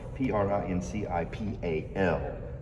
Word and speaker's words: principal: And it's spelled P R I N C I P A L.